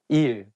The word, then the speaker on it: 일: So you can use it when you call your teacher, like saying 선생님, 일, day. It has the same pronunciation of the word meaning work.